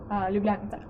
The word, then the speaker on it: Ljubljanica: They have these little boats where you can just pay for it and just go ljubljanica.